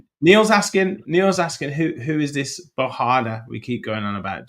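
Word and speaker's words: Bogarde: Yeah, it's Rich is just trying to do the Dutch pronunciation of Bogard. There we go. Basically, yes. So Bahada. We were told it was this on the chat. Lots of the chat told us it was not Bogard.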